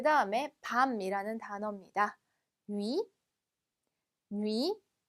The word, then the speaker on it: nuit: nuit, nuit. 자, 마지막 때는 발음이 되지 않지만 을 발음에서 옆에 있는 이까지 발음해 주셔야 돼요. 그래서 누에서 끝내는 게 아니라 누이까지 발음해 주시면 되겠습니다.